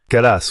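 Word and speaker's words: Kallas: C'est bien ainsi qu'on prononce son nom. Kalas.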